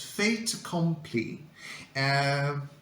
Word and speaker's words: fait accompli: It comes from French, and the pronunciation is fait accompli, which means a done deal, something that is presented as final or impossible to change.